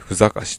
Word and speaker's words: 汗: 西ふし東ふし汗と書いてふかしとえ読むという南独